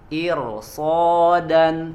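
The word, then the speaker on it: إرصادا: Iro so di situ huruf ro sukun sebelumnya kasrah tapi setelahnya ada huruf isti'la ya ada huruf shod maka dibaca jadi tebal Ir so dan coba ya ada di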